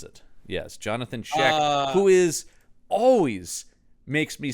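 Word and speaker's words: Jonathan Schaech: It's Jonathan Sheek. Is that how you pronounce it? That is how you pronounce it. Yes. Jonathan Sheek, who is always makes me sad because he's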